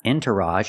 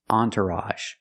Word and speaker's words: entourage: This is a special word because the e makes the sound on. It's not entourage. It's on. Entourage. So the first syllable is on. The second syllable is tur. Make the sound like burger. Entur. And at the end we have the a sound again with a g e.